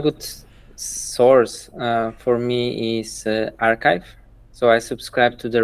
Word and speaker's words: arXiv: with the papers oh I got it they spell it archive but it guys like archive archive archive yeah yeah I'm not sure how